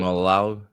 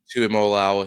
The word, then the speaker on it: Tuimoloau: Hold on, I phonetically put it in there so I can make sure I said it. Tuimoloau. Tuimoloau. Tuimoloau.